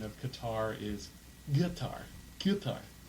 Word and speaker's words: Qatar: you hear it pronounced katar by the by the Brits um the actual proper pronunciation of katar is guitar guar it's like a like like a guar like think about like like a guitar but it'sit okay yeah